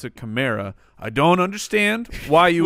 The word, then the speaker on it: Kamara: is from Alvin Kamara who says his mom pronounced it Kamara but he has chosen to pronounce a chimera I don't understand why you would change the